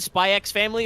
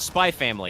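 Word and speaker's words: Spy × Family: actually I don't know is it actually said spy X family or is it just spy family it's by its family the x is silent apparently I don't know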